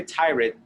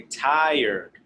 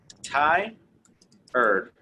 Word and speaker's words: tired: repeat after me remember do not say tyrant say tired okay so it was it's going to be pronounced kind of like this thai earth all right thai earth thai you know like the thing men use when they are very formal a tie and an erred tier so repeat one more